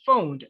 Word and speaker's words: phoned: best friend okay yeah it's phoned not not phonage right you pronounce it good